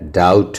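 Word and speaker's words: doubt: अगर टी के पहले बी रहे तो उसे भी साइलेंट कर दिया जाता है। जैसा कि आप देख रहे हैं इसमें जैसा कि आप देख रहे हैं इसमें। जैसे आप देख रहे हैं डेट है, डाउट है, डेटर है। यहां डेटर नहीं होगा। यहां बी क्या है? साइलेंट है दोस्तों।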